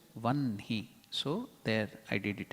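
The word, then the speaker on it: वह्नि: Likewise, here it will be written as Vahni, but pronouncing we have to do it as Vanhi.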